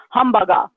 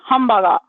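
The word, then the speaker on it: ハンバーガー: that means in English humbug ah I hope you can hear it this hamburger but in Japanese it's katakana English that this is the phonetic for it and here's the next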